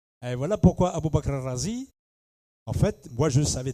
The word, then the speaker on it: Razi: Celui qui habite Raï, on ne l'appelle pas Raï, ça ne va pas, on l'appelle Razi. Et voilà pourquoi Abou Bakr Razi, en fait, moi je savais dès le départ qu'il est de Raï.